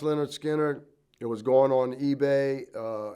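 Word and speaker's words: Lynyrd Skynyrd: is that leonard skinner the leonard skinner pronounced leonard skinner it was going on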